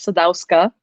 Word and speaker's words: Sadowska: The most common way to pronounce my surname is Sadowska. That's usually how it goes. Sadowska. It's a hard I always know W. the W has like a V sound to it normally.